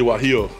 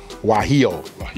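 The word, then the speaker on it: guajillo: now I'm going go ahead and let you pronounce the name of this chili all right these are chili waho waho got it all right so we're going to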